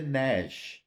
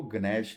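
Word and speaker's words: gnash: देते हैं अब जैसे नश इसको गश नहीं बोलेंगे नैश जी साइलेंट है न श ठीक अब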